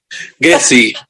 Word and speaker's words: Gazzi: So how do you say your surname? Gessi.